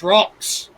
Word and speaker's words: Rox: It's Rox. Yeah, Rox. Amazing player, solid player. Rhymes with Mox, which is pretty cool.